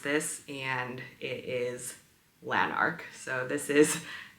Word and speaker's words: Lanark: this and it is lanarch so this is this is the lanarch sweater and it is a